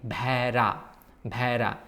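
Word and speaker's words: ভেড়া: Although it's written bhoy ekar, doi bindu roy akar, the pronunciation will be bhera.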